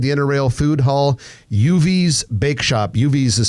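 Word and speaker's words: Yuvi's: pop-up tomorrow inside the inner rail Food Hall uv's bake shop UVS is spelled y-u-v-i apostrophe s uv's bake shop is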